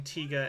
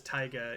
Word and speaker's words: Tiga: I kept pronouncing Tiga as Taiga, even though eventually we actually did get a Taiga later.